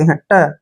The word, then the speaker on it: haughty: और यहाँ पे देखिए GH का प्रोनाउंसिएशन हम कभी भी नहीं करेंगे, क्योंकि अगर टी से पहले GH आता है तो GH का जो प्रोनाउंसिएशन है हमने करना ही नहीं है, यानी GH को हमने पढ़ना ही नहीं है। और टी का उच्चारण हम ट करते हैं, ट, और वाई को पढ़ेंगे हम ई की मात्रा, हॉटी।